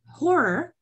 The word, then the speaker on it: horror: So the first letter that we hear is O. So in spite of spelling it horror with H, it begins with a vowel.